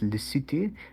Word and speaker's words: Lesotho: right i don't know um but how we pronounce it is lucity which i know makes no sense i mean